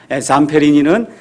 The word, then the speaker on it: Zamperini: 잠페리니는 ZAMPERINI 이렇게 돼 있으니까 여러분이 유튜브나 아니면 위키피디아 백과사전 가서 보시면 이 미국 사람들은 잠페리니 이렇게 발음하는데 그냥 잠페린이라고 제가 이야기하겠습니다.